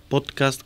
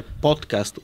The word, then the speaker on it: подкаст: пота разговор бе сила не слагаш ударението на подкаст което не звучи добре трябва да е подкаст уто не го аз